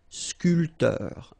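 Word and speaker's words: sculpteur: sculptor same thing here this bay here is not pronounced so sculter a sculptor so remember when you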